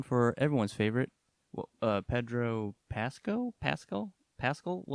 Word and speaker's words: Pascal: we're doing one for everyone's favorite uh Pedro Pasco Pasco Pascal how do you say it Adam uh Pascal Pedro Pascal sounds good that guy you know